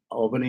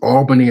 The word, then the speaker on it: Albany: Albany is the capital of New York. I said it wrong. It's like aunt and aunt. No, well, aunt and aunt. Either way, pronunciation is correct. He says Albany.